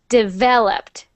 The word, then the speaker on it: developed: next one developed developed so when we say that word we put the stress on the syllable that is V so developed developed developed perfect developed